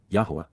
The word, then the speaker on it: Yahweh: apart from men except yah Yahweh the proper pronunciation of the name of eloah God as directed in his